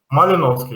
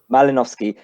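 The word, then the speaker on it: Malinovskyi: How do you pronounce his name? Malinovsky? Malinovsky, yeah. Malinovsky.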